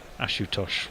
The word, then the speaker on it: Ashutosh: our friend Mr akat ashutosh that's the fellow rhymes with Macintosh yes ashutosh let me see if